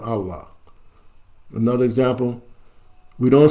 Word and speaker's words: Allah: A E I repeat whenever a e or CRA come before Allah the sound becomes flat on Allah another example we don't